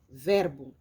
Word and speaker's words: Werbung: La lettre W se prononce comme un V en français, die Werbung.